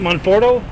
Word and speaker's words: Monforto: hope I pronounce it right, Monforto?